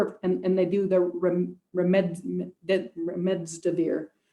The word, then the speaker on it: remdesivir: There's a number of, and they do the remdesivir. I always pronounce it wrong. I always want to say remdesivir, and I put the D in the wrong place.